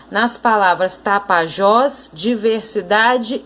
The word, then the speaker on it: diversidade: Agora a palavra diversidade, ó, diversidade. Última, penúltima sílaba.